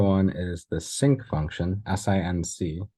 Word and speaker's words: sinc: One of them is the Rect function, which you know about, and the other one is the Sinc function, S-I-N-C, it's pronounced Sinc, which we're going to talk about today.